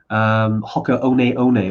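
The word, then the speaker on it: Hoka One One: Hoka One, although it's spelled Hoka 1-1. It took us about 12 months to realize how to actually say that.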